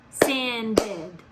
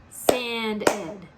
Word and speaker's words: sanded: word tanned tanned one what about in the third word sanded let's try it sanded sand ed there's two so there's one in mist one in sand and two in sanded how interesting huh a